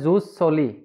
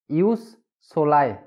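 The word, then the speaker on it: jus soli: बहुत लोग इसको बोलते हैं जूस सोली, लेकिन इसका सही प्रोनाउंसिएशन है यूस सोलाई।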